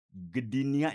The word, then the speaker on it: Gdynia: Beliau ini, satu alumni dengan saya, Fakultas Kedokteran Unpad, Ya, kemudian beliau nah ini dia nih, mengambil spesialis kelautannya itu dari Gdynia bacanya ya, Gedin ya.